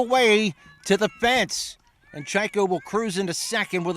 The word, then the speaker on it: Chajko: Brings up the left fielder, Sarah Chaiko, who was nice enough to tell us how to pronounce her last name. Spelled Chajko.